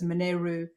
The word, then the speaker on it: Monaro: the actual um the term Monaro which is pronounced as moneru comes from the indigenous people of Australia which